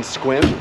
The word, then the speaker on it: Sequim: some pokemon eggs perfect so we're staying in squim spelled s-e-q-u-i-m it's not pronounced cyclone it's squim it's by port angelus on olympic peninsula and